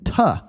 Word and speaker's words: to: One thing I want you guys to pay attention to here is how I pronounce this word. It sounds a little bit like "tuh," right?